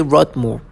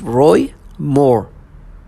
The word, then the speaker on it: Roy Moore: They say Rod Moore. His name is Roy Moore.